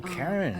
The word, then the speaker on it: Charon: Only you're pronounced... It was C-H-A-R-O-N. Oh, Karen, isn't that the river?